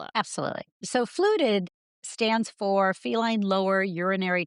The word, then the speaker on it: FLUTD: So fluted stands for feline lower urinary tract disease. So that's an acronym and we just pronounce it as fluid fluted.